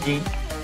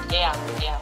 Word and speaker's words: Jean: Seguro que no se dice Jin. Jean.